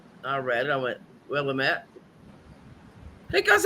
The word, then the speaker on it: Willamette: My ex-husband looked at me, he goes, "How do you pronounce that?" I read it, I went, "Willamette."